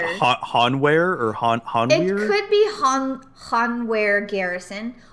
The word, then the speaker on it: Hanweir: How do you say the W-E-I-R? Where or weir? Weir. I would say weir. Weir. I would say weir. But... Oh, sort of like weird, but without the D.